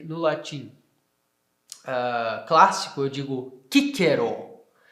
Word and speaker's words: Cicero: Para dizer o nome dele no latim clássico, eu digo Cicero. E para dizer, né, com a pronúncia reconstituída, Cicero. Por quê? Porque a letra C tem som de K.